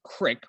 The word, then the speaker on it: Crick: british scientist named francis crick which rhymes with prick over on the left